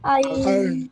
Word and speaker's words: iron: Will you pronounce this word here? No. No. It will not No. be pronounced. It will be iron.